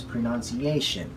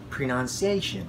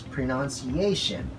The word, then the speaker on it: pronunciation: As you can see in the IPA, you can pronounce this as pronunciation. Many Filipinos pronounce this as pronunciation, but it's not. It's pronunciation. But if you cannot read